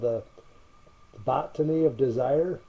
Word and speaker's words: The Botany of Desire: During the making of a documentary, I think it's called The Botany of Desire. That's how you pronounce it.